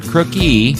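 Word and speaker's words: Crooke: Joining us is Dan Crook, not Crookie. It has have an E at the end, but it's pronounced Crook.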